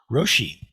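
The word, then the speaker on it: 老師: Anybody here know the Japanese pronunciation of Lao Tzu's name? Roshi. So Roshi in Japanese just means old master.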